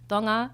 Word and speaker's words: Tonga: It's pronounced TOHNG-uh — I say TAHN-guh because it's like the American westernized way to say it but it is TOHNG-uh and I'm very proud to be Tongan.